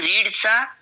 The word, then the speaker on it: read: हा present perfect tense आहे ना, याच्यामध्ये थर्ड फॉर्म युज होतं आणि रीडचा थर्ड फॉर्म रेड असं वाचायचं आहे.